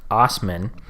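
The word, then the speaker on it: Assman: all right fantastic so ask man pronounced Osmond said he appealed SGI's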